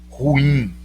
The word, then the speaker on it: ruim: Torre Eiffel, ruim.